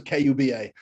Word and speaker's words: Kuba: It's just like Cuba, but spelled with a K.